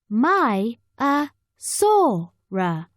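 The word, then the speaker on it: Maiasaura: protective over their young how do you say it Maya Sora say my ah Sora in the sea many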